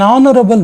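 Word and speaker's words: honorable: ಡಯಾಶ್ ಹರಬಲ್ ಮ್ಯಾನ್ ಸ್ನೇಹಿತರೆ ಇಲ್ಲಿ ಹನರಬಲ್ ಅಂತ ಉಚ್ಚಾರ ಮಾಡಿದರೆ ತಪ್ಪು ಇದು ಆಕ್ಚುಲಿ ಹನರಬಲ್ ರಬಲ್ ಅಂದ್ರೆ ರೆಸ್ಪೆಕ್ಟಬಲ್ ಅನ್ನುವಂತ ಅರ್ಥ ಬಂದಿರೋದ್ರಿಂದ ಆನ್ ಸೋ ಇಲ್ಲಿ ಹಚ್ ಸೈಲೆಂಟ್ ದ ವರ್ಡ್ ಹಚ್ is silent here so ಆನ್ ಆನರಬಲ್ ಮ್ಯಾನ್ ಅಂತಹೇಳಿ ಓವೆಲ್ ಸೌಂಡ್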